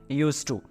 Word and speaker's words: used to: यूज्ड टू। और इसमें ध्यान रखिए, इसमें डी साइलेंट है, तो डी को नहीं पढ़ना है, आपको खाली क्या पढ़ना है? यूज्ड टू, ना कि यूज्ड टू।